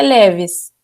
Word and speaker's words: LEVIS: LEVIS ou LEVIS? Como é que pronuncia? A gente pronuncia LEVIS.